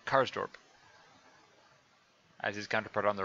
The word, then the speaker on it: Karsdorp: left full back with carl karzdorp that's not here is supposed to pronounce that karsdorp as his counterpart on